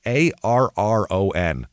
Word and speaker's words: Arron: So to figure out what's going on with Aaron and what the best approach is, by the way, Aaron is Arron. That's how you say it. Two R's? Two R's.